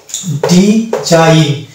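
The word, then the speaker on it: design: তাহলে আমরা সেই জায়গাতে দেখতে পাবো জি এর উচ্চারণ হয় না যেমন এখানে এক্সাম্পল দেওয়া আছে ডি জাইন এই শব্দটিতে আমরা দেখতে পাচ্ছি জি এন আছে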